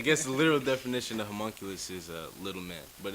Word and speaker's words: homunculus: from yeah okay so right now I'm like homologous and then I was like yes that's pretty much it's a homunculus okay can you can you tell people what